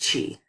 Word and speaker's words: qi: This energy is called qi and pronounced qi.